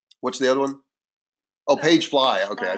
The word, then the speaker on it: PageFly: Mark put in there, excuse me, that Shopify apps, Pagely is free. So there you go. There's some landing pages. What's the other one? Oh, Pagefly.